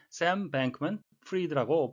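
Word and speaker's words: Sam Bankman-Fried: 기각했습니다라고도 통용되는 것 같습니다 fried 우리가 아는 단어 프라이드가 되겠는데요 실제이 사람의 이름은 샘뱅크맨 프리드라고 발음을 해야 정확하겠습니다 내용사고는 붕괴된 암호화폐 거래소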